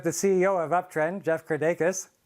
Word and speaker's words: Kirdeikis: Is it Jeff Kirdeikis? Is that how you pronounce it? You're probably the closest pronunciation on the first go around of anyone that I've heard. So yeah, it's Kirdeikis. You got it. Kirdeikis, awesome.